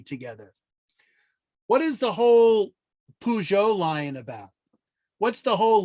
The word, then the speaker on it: Peugeot: instance where a lion is invoked what is peugeot that's how you pronounce it he he inherited his uh parents